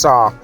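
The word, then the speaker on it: Sarre: island is depicted moving on to tsar sar is indeed french it was once spelt sir and as i alluded to in the beginning of the video in the captions it is indeed pronounced sar ecclesiastically the parish joined sent nicholas when the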